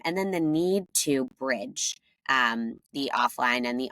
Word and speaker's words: Brij: then the need to bridge um the offline and the online and that direct relationship so that's where Bridge it's spelled b r j but pronounced Bridge that's where that comes